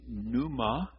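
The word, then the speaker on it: pneuma: is the word ruach in Greek it is Numa you would spell it in Greek I mean using our alphabet P Neu M A and it's the word we have in pneumonia I had eight eight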